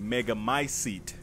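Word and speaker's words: Megamycete: catalogs all of us mega my seat is how you pronounce it however she will be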